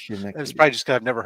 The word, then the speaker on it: Schenectady: Schenectady. Schenectady. I know how to say Poughkeepsie. Schenectady. Doesn't count. He's from upstate. Okay. Not real New York. Robert, I'm sorry, I can't pronounce your city's name. It's Schenectady.